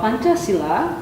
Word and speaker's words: Pancasila: I pronounce well. Yes, Pancasila.